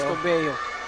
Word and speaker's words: Tubeo: Tubeyo. Hindi ko alam kung paano ito i-pronounce sa partner, no? Tubeo ba? Yes, partner. That's Tubeo. Tubeo. No, Tubeo.